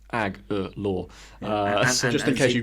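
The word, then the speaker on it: Agholor: would mention to me it even says on that patriot's own website pronounced ag law uh just in case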